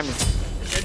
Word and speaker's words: Ymir: They're wrong because it's Ymir. Tower is under attack. No, it's not. Because the way that it's pronounced is the way that they make it in their country, it's Yimer.